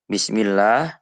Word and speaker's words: Bismillah: Maka mat asli itu bacanya 2 harokat atau cukup 1 alif. Bismillah. Tidak boleh dibaca Bismillahirrahman. Nanti dienak-enakan mentang-mentang yang mendengarkan calon mertuanya misalnya. Terus dipanjang-panjangkan. Itu malah jadi salah.